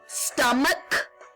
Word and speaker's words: stomach: But if the CH ending is pronounced with a K sound, such as in stomach, then you just add the S, because it's not the ch sound.